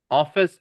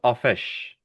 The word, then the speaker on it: office: Office also isn't a sh sound. The C here. It's not offish.